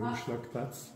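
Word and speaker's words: Umschlagplatz: C'est en allemand, mais c'est Hochschlagplatz.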